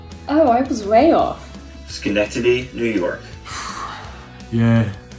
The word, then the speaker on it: Schenectady: snake teddy schnitty shekin teddy no that's right shenak teddy schenectady schenectady okay now i'm just saying the same